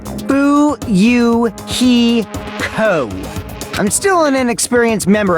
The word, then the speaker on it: Fuyuhiko: last name is kuzuru my first name is pronounced boo you he co i'm still an experienced member of my family's